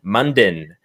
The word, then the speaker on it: Munden: awesome, the amazing Munden. Did I say it right, or is it Munden? You said it right.